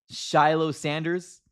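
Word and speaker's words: Shilo Sanders: Uh, Shiloh Sanders, I think that's how you pronounce his name.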